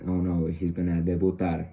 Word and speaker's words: debut: In French it will be like debut, and in English, debut. There is a little bit of a difference between pronunciation. It's kind of simple between both of them, just the final letters, and the meaning it's